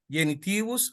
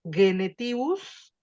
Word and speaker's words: genitivus: Casus sunt sex nominativus, genitivus, dativus, Acuérdate en la pronunciación. accusativus, Acuérdate que en la pronunciación clásica hacemos G, sonido suave de la G. Genetibus.